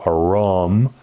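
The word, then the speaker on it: עָרוֹם: a room or aram a rum with a long o a rom but satan was a room with a u a room humanity is viewed in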